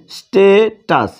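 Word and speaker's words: status: সেক্ষেত্রে এখানে উচ্চারণ করতে হবে স্টে, আর এইখানে টাস অর্থাৎ স্ট্যাটাস। ঠিক আছে, তার মানে স্টেটাস।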